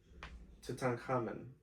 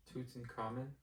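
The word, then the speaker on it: Tutankhamun: I have trouble saying that word and I don't know why tutan common. What did you say? Toots in common. Okay. Toot in common. I'll say it like that.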